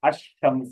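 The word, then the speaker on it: الشمس: मतलब ये है कि लाम जो है ना बाद वक्त साइलेंट हो जाता, क्या हो जाता, साइलेंट हो जाता, तो कहते हैं साइलेंट। जैसे आप अशम्स, यहाँ पर लाम क्या है, लिखा जा रहा है लेकिन पढ़ा नहीं जा रहा।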